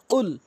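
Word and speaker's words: قل: হলো সঠিক অর্থ হলো কুল হে রাসূল আপনি বলে দিন কফটি এই কফটি জিহ্বার গোড়া উপরে তালু থেকে উচ্চারণ করলে সঠিক অর্থ দাড়ায় কুল আর যদি কুল বলেন তাহলে হবে না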